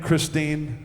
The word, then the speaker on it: Christine: is is pretty true her name Christine rhymes with queen and gasoline and that's her up